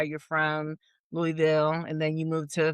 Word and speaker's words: Louisville: It's Louisville, not Louisville.